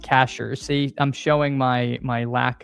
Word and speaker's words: Cashiers: Okay, pronounced Cashers.